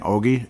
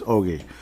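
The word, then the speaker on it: Öhgren: I've heard Ohgren, but once you hear Brock Faber saying Ogie, it's over. It's Liam Ohgren. I wouldn't think Brock Faber would mess up how to say his name, so it's Ogie.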